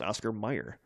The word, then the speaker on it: Oscar Mayer: the song okay here's always it's always been Oscar Mayer but it's it's pronounced Oscar Mayer right cuz I know the song like the